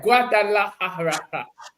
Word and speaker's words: Guadalajara: Yeah, Guadalajara. That's how you say it.